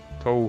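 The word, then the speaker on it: Touhou: That's not even the proper pronunciation, because you have the little U sound on it. Toho.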